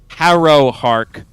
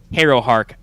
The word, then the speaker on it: Harrowhark: herro heart known adjustment says harrow hark to rhyme with arrow not as in hey so not hero hark harrowhark and uh eyes and